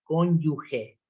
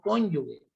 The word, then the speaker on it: cónyuge: apruebe ese examen y la verdadera palabra o sea lo Cómo deben pronunciarlo es como cónyuge no cónyuge y a pesar de